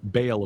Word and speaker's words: Baal: he referred to it as the super Baal, which is the correct pronunciation of Baal of the Bible, Baal.